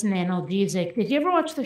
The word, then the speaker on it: analgesic: And at one point, one of the characters, Turk, he goes, "Ma'am, this is pronounced analgesic.